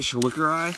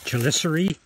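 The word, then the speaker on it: chelicerae: Is that how you say it? Shulikari? Chelicery. There you go.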